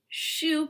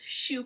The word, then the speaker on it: choux: cream puffs shoe pastry the word shoe in French means cabbage actually due to the shape that they take when they bake and it's obviously not spelled like shoe that goes on your feet we're talking c-h-o-u-x shoe pastry so I've put the